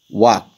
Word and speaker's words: walk: shine LG remains silent walk here L remains silent half here L remains